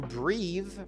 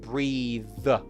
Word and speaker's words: breathe: But breathing to breathe as an action as a verb is pronounced with the voiced the at the end. Breathe not breath e.